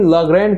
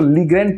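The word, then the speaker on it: Legrand: ये भी लाग्रैंड के यूज कर रहे हैं। जनरली लोग इसको लीग्रैंड प्रोनाउंस करते हैं, बट एज यू कैन सी इट इज लाग्रैंड।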